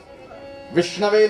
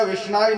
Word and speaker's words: विष्णवे: विष्णवे नमः की जगह विष्णाय नमः करोगे तो भी ठाकुर जी राजी हो जाएंगे।